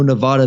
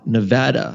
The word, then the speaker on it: Nevada: And I also got to pronounce it's Nevada, not Nevada.